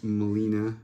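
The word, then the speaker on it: Gmelina: proper name in term is Molina but there's a silent G GM e l i n e and they're pretty cool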